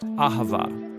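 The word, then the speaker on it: אהבה: It's pronounced Ahavah.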